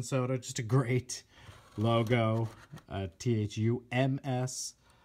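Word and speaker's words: Thums Up: just a great logo Thu ms because they don't pronounce the B thumbs up good stuff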